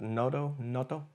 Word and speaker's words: Noto: I guess that Noto is how you say his name.